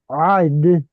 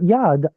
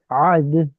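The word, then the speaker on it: עד: So, arba'in yom, ba'arba'in laila, ad, not yad, ad, har Elohim chorev.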